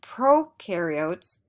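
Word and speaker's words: prokaryotes: fungi animals and plants remember procaryotes rhymes with no which means they have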